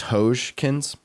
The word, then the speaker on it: Hodgkins: It's pronounced Hojkins.